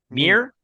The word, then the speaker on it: Muir: they head to, how do you say this, Muir Island? Mir. Island. Okay, so it's a real place then. I don't know that that's the island, but there was a famous naturalist named John Muir.